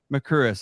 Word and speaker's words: Mercouris: That's Alex Christoforou, and that's Alexander Mercouris. Is that correct? Am I pronouncing that correct?